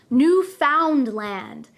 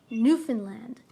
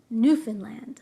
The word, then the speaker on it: Newfoundland: Be careful though, many people who are not Canadian try to pronounce this word as Newfoundland. We do not pronounce it that way. We say Newfoundland, Newfoundland.